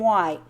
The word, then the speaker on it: white: The stripes of our flag are red and white. Okay, now Betty actually pointed this out. This is awesome. And how would you say it, Betty? Okay, it's written WH, but it's pronounced HW.